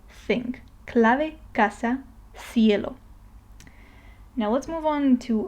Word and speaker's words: cielo: by E or I, like for example in the word cielo, which means the sky, then it is more similar to this TH sound in thing, okay? Thing, cielo. Some people, especially in Spain, pronounce it more like an S, like sound, sound, cielo. But I'm more inclined, or most people are more inclined towards the TH or something in between, so we're always safe with TH.